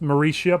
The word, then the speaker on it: Mauritia: That's pronounced Mauritia, by the way. There's nothing else going on there.